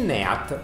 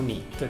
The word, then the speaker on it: NEAT: consumiamo durante la giornata, il NEAT o NIT, dipende come lo vogliamo pronunciare, arriva anche a oltre